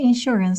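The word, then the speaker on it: insure: چیزی خب این میشه اشور دیگه بچه یعنی بیمه ببینید شد تلفظش م سیلاب دومش هست اشور اشور اشور اشور بیمه اوکی این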